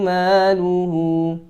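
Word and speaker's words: مَالُهُ: Maluhu maluhu, jangan maluhu, ma-nya panjang 2 harokat, mad tabi'i juga.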